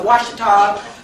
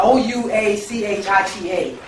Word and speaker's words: Ouachita: They also changed the spelling of Washita to Yeah, Ouachita, a European misnomer that retains the pronunciation of the original name.